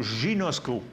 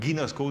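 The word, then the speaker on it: γινώσκω: Bon, le « je vois » ici, c'est le mot « ginosko » ou « ginosco », vous prononcez comme vous voulez, là, « ginosko ».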